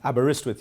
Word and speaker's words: Aberystwyth: let's try it okay you break it into three separate pieces and it's much easier so it's a burr wrist with now put the three